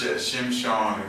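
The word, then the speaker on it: שמשון: Yeah, but it's spelled sun, like. Oh, you mean in Hebrew? Mm-hmm. Okay, all right. But it's Shimshon.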